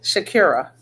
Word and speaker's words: Sha'Carri: Yes, Shakira.